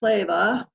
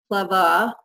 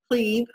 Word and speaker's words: Kleve: And if you noticed, I said it with Kleve, and as most Americans, we say cleave, but, and this is not 100%, but for most German words that end in an E, you say it like an A.